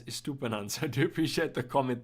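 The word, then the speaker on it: Estupiñán: were wrong davey and stupid is pronounced as estupanan so to appreciate the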